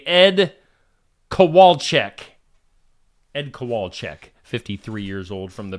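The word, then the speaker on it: Kowalczyk: do know how to say Ed coal Ed kowalek 53 years old from the band Live so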